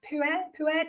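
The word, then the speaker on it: Pu'er: We've got black tea, which is definitely my favorite, green tea, and it's pronounced pu’erh tea, is that correct?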